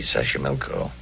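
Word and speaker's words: Xochimilco: better than i do it's easy sasha milko that's where the streets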